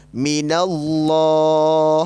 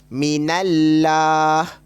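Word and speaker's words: مِنَ اللّٰه: atas ataupun berbaris fathah kita perlu baca secara tebal ah macam mana cara bacaan sebaik bunyinya akan jadi macam ni minallah oh minallah Cuma sebutnya usah sebuah opo sebuah ke rumah minallah ah kita tebak jangan baca mint Allah jangan macam Innalillahi to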